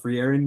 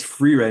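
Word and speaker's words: Frieren: Yo, supposedly it's called Free, not Free Erin. Bro, I was getting flamed in the comments, bro. What's it called? It's free Ren, not free Aaron.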